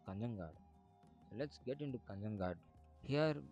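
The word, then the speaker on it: Kanhangad: In Malayalam they pronounce this town as Kanyangad.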